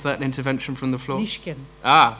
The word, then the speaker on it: Mishkin: Alexander Mishkin, aka Alexander Petrov, and Colonel Anatoly Chepiga, aka Ruslan Bosharov, entered the UK. What was that intervention from the floor? Mishkin. Ah, Mishkin.